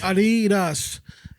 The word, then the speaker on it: Adidas: The actual pronunciation is Adidas. Because that's both of the brothers German That's both of the That's the both of the the brothers Germans names. The first one is Adi, so you People that work